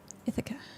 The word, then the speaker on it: Ithaca: Ithaca with the stress on the first syllable.